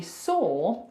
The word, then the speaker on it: saw: it's annoying so actually saw feels like it should rhyme with door right it's the same sound so door look at